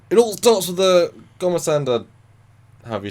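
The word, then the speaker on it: gormagander: But he shouts before you go, "It all starts with the Gomasanda," however you spell it, Gomandanda, whatever. And they're like... Gormander, thank you.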